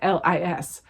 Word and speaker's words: Eilis: I don't know how to say it. It's Irish. Eilis.